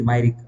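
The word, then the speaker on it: Myrick: यह सेक्शन पे नहीं है बेसिकली जो अदरवाइज सेक्शन है ना कमेंट्री में बेसिकली स्टिल एल साइलेंट का लेना सिक versus मरिक एम वाई आर आई सी के मायिक 1809 ये बेसिकली कंसीडरेशन के ऊपर है।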